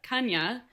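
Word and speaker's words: Cañas: I looked up how to say her last name and I totally know how to say it, and I'm just getting very shy about saying it because I'm gonna potentially butcher it, but it's Kanya, Isabel Kanya.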